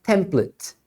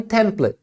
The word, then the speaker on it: template: é a palavra template você pode pronunciar template também tá então As duas são corretas no inglês americano é mais comum eles pronunciarem template com at no final